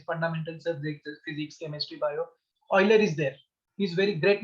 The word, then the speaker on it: Euler: Sometimes called as Euler, sometimes Euler's. So Euler is the proper, you can say, pronunciation of this.